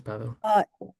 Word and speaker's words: Pawel: And Pawel, am I pronouncing your name correctly? Pawel? Yep, that's correct. That's Pawel.